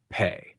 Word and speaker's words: pe: Because in Spanish, the letter J is pronounced Jota, and the letter P is pronounced pe.